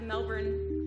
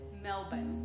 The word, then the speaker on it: Melbourne: five times at the Melbourne excuse me the Australians pronounce it Melbourne I'm told right Brian was very clear